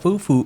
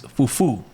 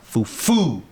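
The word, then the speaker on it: fufú: you say Dominicans call it's not Fufu it's Fufu there's an accent in it fuu there you go accento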